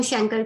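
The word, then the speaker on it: chancre: Genitalia पे बनता है, उसको हम शैंकर कह रहे होते हैं, ये कैंकर कहते हैं, ये शैंकर, आपकी मर्जी, आप जो मर्जी प्रोनाउंस करो।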